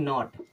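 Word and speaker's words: knot: दिखा देते हैं जैसे के एओटी अब इसे कनॉट पढ़ते हैं क्या पढ़ते हैं कनॉट नहीं इसको हम पढ़ते हैं नॉट क्या पढ़ते हैं नॉट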